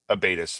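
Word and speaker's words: abatis: South how do you Warfare how do you spell that abatus like it sounds AB a t i s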